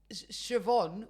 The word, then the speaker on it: Siobhan: They get the names that are spelled Siobhan, which is not spelled like Siobhan. How's Siobhan spelled? Siobhan is spelled in some Siobhan. S what? Siobhan. S what? S-I? S-I-O. Siobhan. Siobhan. And English people seem to look at that and go, oh yeah, Siobhan.